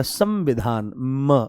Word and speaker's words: संविधान: देखो हम कहते हैं संविधान, तो आपने क्या बोला, आपने अनुस्वार में म को बोला, संविधान मकार बोला आपने, तो ये शब्द है संज्ञा।